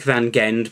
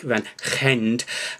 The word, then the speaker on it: Van Gend: the van gend well it looks like van gende but apparently it's pronounced something like van gende uh i apologize to